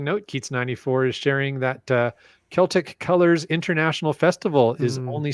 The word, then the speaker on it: Celtic: Is that Celtic or Celtic? Sorry? It depends if it's a nationality or a basketball team.